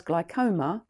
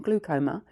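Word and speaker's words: glaucoma: one generation down has glycom glucoma sorry I keep saying it wrong glucoma you get free eye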